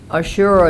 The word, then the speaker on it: Ashura: And also, um, the Ashure, is that how you say it? Ashura.